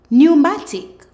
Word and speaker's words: pneumatic: be looking at PN when you see PN in a word the p is silent PN says n let's go ponia pneumonia newmatic pneumatic new mology mology now